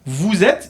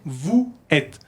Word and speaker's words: vous êtes: Regarde, vous êtes ici là. Hay que hacer como una Z. No se dice vous êtes.